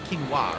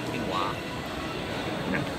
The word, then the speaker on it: quinoa: heard of that no kinoa it's it's not kinoa it's quinoa right that's how you pronounce it quinoa what is that cheese egg Mayo salty egg